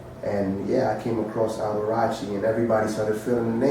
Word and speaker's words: Alberacci: They pronounce it Alberacci.